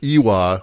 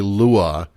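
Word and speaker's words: lwa: badly as me basically i kept pronouncing it ewa when it's actually lua it appears that i kept reading the the uh the l as a capital i so oh yeah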